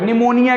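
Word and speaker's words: pneumonia: आगे देखो, निमोनिया की स्पेलिंग पी से स्टार्ट होती, पी साइलेंट रहता है।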